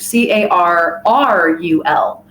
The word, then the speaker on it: Carl: It's pronounced, the persona is Carl. That is a running joke for my old name. But I kept the name Carl for that character, Carrul. And they are a pirate